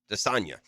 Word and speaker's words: Desagana: Desanya is how he pronounces it.